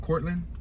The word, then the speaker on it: Courtland: It's spelled Courtland with a T at the end, but I believe the T might be silent. 2500 block of Cortland.